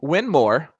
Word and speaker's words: Winmau: They're giving away the winner's choice of any Win More, which is the right way to pronounce it, Diablo darts as part of the brand new 2023 collection.